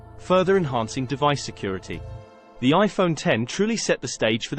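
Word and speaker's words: iPhone X: with the release of the iPhone 10 pronounced 10.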